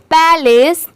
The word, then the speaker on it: palace: PA पै की sound आएगी और LACE लेस, पैलेस।